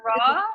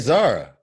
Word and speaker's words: Zara: Zora, like he said. Zora, like he said. Oh, I didn't say it right. Listen, you said Zora. I said Zara.